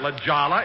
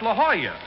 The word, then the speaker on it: La Jolla: place jack that's not la jala it's la jolla that's how you pronounce it in spanish oh oh i didn't